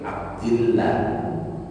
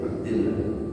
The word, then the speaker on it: Abdillah: Tapi kalau sebelumnya lafaz jalalain itu kasrah, dibacanya tadi Abdillah. Begitu ya, Abdillah.